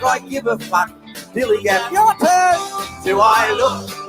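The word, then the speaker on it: DILLIGAF: And I can relate to their attitude too in a word, dilly-gaff. That's spelled D-I-L-L-I-G-A-F, dilly-gaff.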